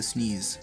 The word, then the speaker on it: SNES: super nintendo entertainment system which is called by the cool people the sneeze that's actually how you pronounce it thank you wait